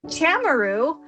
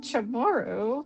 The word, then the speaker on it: Chamorro: kind of go like I know I'm mispronouncing this but people always tend to say Chamorro, what's that? And they get excited and I'm like, okay um it's Chamorro but but